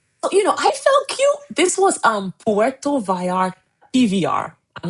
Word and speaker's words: Puerto Vallarta: This was Puerto Vallarta, PVR. I'm not saying it right. Puerto Vallarta.